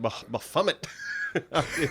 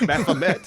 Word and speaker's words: Baphomet: I always pronounced it Baphomet. It's Baphomet.